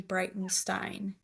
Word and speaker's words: Breitenstein: And then my Stravo just Brightenstein, like Einstein, but with the B R E I T E N S T.